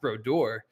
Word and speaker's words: Brodeur: that means but um my name is pronounced bror and uh and I